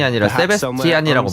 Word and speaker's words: Sebastian: 세베스찬이 아니라 Perhaps somewhere 세베스티안이라고 발음하네요.